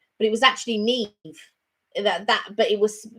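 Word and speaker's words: Niamh: i i read the name it looked like naimah but it was actually neve that that but it was it was spelt n-i-a-h-m or something like that but it was actually pronounced neve oh mark said i've seen a vlog in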